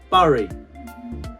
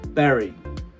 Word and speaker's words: bury: So it sounds like berry, the fruit, but actually, so it's not bury, it's berry.